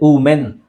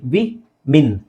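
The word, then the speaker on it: women: ಬೇರೆ ರೈಟ್ ನ ಇದು ತುಂಬಾ ಜನ ಮೆನ್ ಮೆನ್ ಅಂತಾರೆ ಉಮೆನ್ ಅದು ವ ಬರೋದೇ ಇಲ್ಲ ಉ ಹೇಳ್ತಾರೆ ಉ ಇಲ್ಲಿ ಡಬ್ಲ್ಯೂಓ ಇದೆ ಬಟ್ ಇದನ್ನ ಹೆಂಗೆ ಹೇಳ್ತೀವಿ ನಾವು ನೋಡಿ ವಿ ಮಿನ್ ವಿಮೆನ್ ಹೆಂಗೆ ಹೇಳ್ತೀವಿ ವಿ ಮಿನ್ ವಿಮೆನ್ ವಿಮೆನ್ ವುಮನ್ ಸಿ ವುಮನ್ ಹೆಂಗಸು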